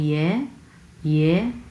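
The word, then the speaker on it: 爷爷: হচ্ছে neutral tone এবং প্রথম অংশটা হচ্ছে সেকেন্ড টোন, যার কারণে আমরা সেকেন্ড টোন উচ্চারণ করবো ইয়ে ইয়ে, লাইক দিস। এবং পরের অংশটুকু হচ্ছে নিউট্রাল টোন, যার কারণে আমরা ধরেই ছেড়ে দেবো।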